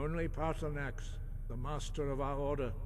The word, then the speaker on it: Paarthurnax: It's pronounced Paarthurnax.